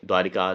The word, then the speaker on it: द्वारका: समझिए द्वारिका द्वारका तो द्वारका यह सही उच्चारण है। जैसे द्वारिका बोल देते हैं। जैसे द्वारिका यह सही नहीं है। ना यह सही है। द्वारका है।